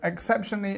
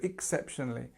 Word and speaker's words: exceptionally: So exceptionally, again, we have this E, which becomes this ik sound, so exceptionally. And it's very often used, and don't worry about this sounding more I than because it's supposed to. And then we have our stress here on the second syllable, so exceptionally, and then we have the li sound, of course, at the end, exceptionally.